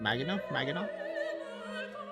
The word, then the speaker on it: Maginot: I never know how to like pronounce it. Maginot? It's Maginot, right?